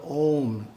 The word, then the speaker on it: Om: must be pronounced correctly the first syllable is pronounced ah the second syllable is pronounced whew the third syllable is pronounced mmm with the front teeth gently touching in the process each